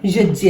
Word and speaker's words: यज्ञ: हम आम भाषा में इसको ज्ञान, यज्ञ बोलते हैं, लेकिन इसका असली उच्चारण ज्ञान, यज्ञ है।